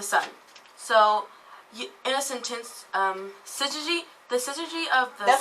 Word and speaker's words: syzygy: first up is my word of the day, which is syzygy, which Cool. is syzygy. Scissor. Say it So syzygy. Syzygy. It's spelled S-Y-Z-Y-G-Y.